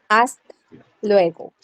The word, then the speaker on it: hasta luego: Here, hasta luego.